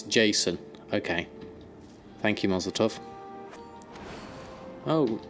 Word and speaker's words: JSON: Or is it just JSON? Oh right, JSON rather than SJON.